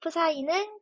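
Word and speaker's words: ψ: 전속이라고 표현합니다 즉 전속 프사이는 큐다라고 쓸 수가 있고 단위는이 전하량에 맞춰서 쿨롱을 사용합니다 지금 방금 사용한 기호는 프사이라고 읽는 읽을 수 있습니다 영어로 이렇게 psi로 쓰거든요 가끔 질문에서 어떻게 문제를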